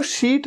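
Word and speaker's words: sheet: इसे सीट नहीं कहना, सीट नहीं, सीट तो वो होता है SEAT, सीट, कि इस सीट में आप बैठ जाइए, वो सीट है। ये तो शीट है, शीट, बेडशीट।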